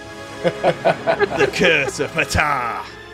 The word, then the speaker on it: Ptah: The Curse of Ptah. I think that's how you pronounce it. I think you don't say the key.